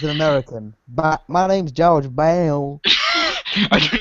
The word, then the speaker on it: Baum: Bum. You would be surprised by how many people get that last pronunciation of that last name wrong. I think I always thought because it's not accented.